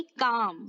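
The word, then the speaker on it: calm: इफ you want to से शांत रहे, सो आप कहेंगे स्टे काम। यहाँ पे देखिए, यहाँ पर एल साइलेंट हो जाता है, इसका प्रोनाउंसिएशन क्या आएगा, काम, स्टे काम, काल्म नहीं कहेंगे, स्टे काम।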